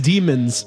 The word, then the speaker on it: Demon's: the one that you flout for cred it's demon souls it is demon apostrophe s souls right we actually we actually pronounced it wrong it's demons i just say demon it's a pain it